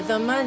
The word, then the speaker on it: dhimmi: A dhimmi, or a dhamma, depending on the pronunciation, is a tolerated people.